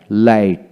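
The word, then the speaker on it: light: এখানে জিএইচ উচ্চারণ হলো না। একইভাবে ব্রাইট, ব্রাইট, টাইট, টাইট, লাইট, লাইট।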